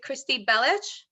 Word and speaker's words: Kristy Belich: on my channel and I'm H here with Christy bellich is that how you say it perfect yeah